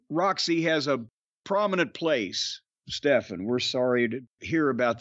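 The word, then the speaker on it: Stephon: Anyway, I got an email from Stefan. I believe that's how you would pronounce S-T-E-P-H-O-N. Stefan.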